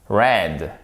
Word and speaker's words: read: prononce j'attends votre réponse red comme la couleur exactement à couleur red c'est la même prononciation que to read au preterit ok donc faites bien